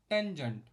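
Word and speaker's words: tangent: pronounce it right but this tan इ full form is टेंजेंट okay this is टेंजेंट function not tan यस यस cosec this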